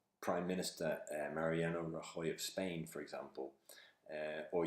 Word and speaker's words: Rajoy: is a guy called Mariano Rajoy which of course has a Spanish pronunciation but the the system would not pick up and Roy it's just not part of the 200,000 core words so it probably come up with raw joy so then we have